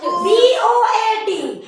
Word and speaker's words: boat: तो जैसे कि दो कॉन्सोनेंट के बीच में ओ पहले ओ फिर ए, COAT कोट, BOAT बोट, GOAT गोट होता है ना ऐसा?